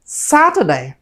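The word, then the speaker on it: Saturday: Primary stress মানে হচ্ছে কি, যে প্রথম যে সাউন্ডটা আছে সেটাকে সবসময় আমাদের প্রেশার দিয়ে বলতে হবে। আমরা যদি প্রেশার দিয়ে বলি তখন উচ্চারণটা ভালো শোনায়। এই জন্য এস এবং এম, টি, ডাব্লিউ, টি, এফ এগুলো বলার সময় আমরা সবসময় প্রেশার দিয়ে বলবো।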